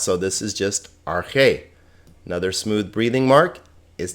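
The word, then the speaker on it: ἀρχή: the word are k notice this alpha has a smooth breathing mark it's not pronounced so this is just arche another smooth breathing mark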